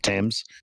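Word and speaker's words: Thames: Like that proper pronunciation of Tames.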